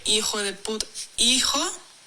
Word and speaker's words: hijo: Hijo has an H, but it's silent. Hijo.